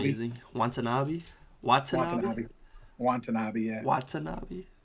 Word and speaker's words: Watanabe: Was Watanabe. amazing. Watanabe. Watanabe. Watanabe. Yeah. Watanabe. Yeah. Just like it's spelled. Watanabe.